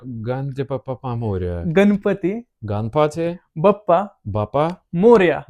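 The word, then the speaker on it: Ganpati Bappa Morya: In the Ganesha festival, we just say Ganpati Bappa Moria. Mm. Can you say it like this? Ganpati Bappa Moria. Ganpati Bappa Moria.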